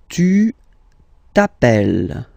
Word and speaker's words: tu t'appelles: Tu t'appelles. Okay, remember, final S not pronounced. Tu t'appelles.